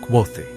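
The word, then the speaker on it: Kvothe: se ensanchó el mío me llamo quote que se pronuncia qu Los nombres son importantes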